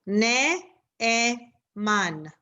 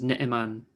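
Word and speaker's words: נאמן: Like je n'ai amar, or like neman versus ne'eman. Ne'eman, that's how I would pronounce it. Ne'eman. Okay. So the stress is on the E, Ne'eman.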